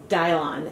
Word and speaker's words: Dylon: bit about the color apparently this dye I've been using is pronounced dial on and I've been plying